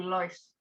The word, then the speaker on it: läufst: Nah, kalau EU dia bacanya OI gitu. Jadi laufen, ya kan kemarin yang di part 1, kalau EU karena A umlaut ini bacanya EU, dia bacanya jadi OI.